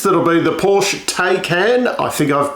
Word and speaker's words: Taycan: So the rumour is that it'll be the Porsche Taycan, I think I've pronounced that correctly, which is Porsche's electric offering out there as the safety car for the field.